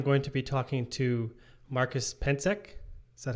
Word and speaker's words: Marcus Pentzek: um today i'm going to be talking to marcus pencek is that how you say your name yeah